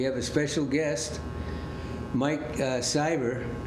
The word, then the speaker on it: Siver: We have a special guest, Mike Siver, rhymes with diver, in case you don't remember his name, pronunciation.